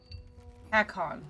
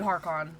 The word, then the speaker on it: Hakon: Hakon. Okay, that is how you say it. I'm gonna end up calling this dude Harkon.